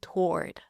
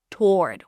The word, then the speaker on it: toward: For so long I ignored what I was actually working toward. Toward, we don't pronounce the W here.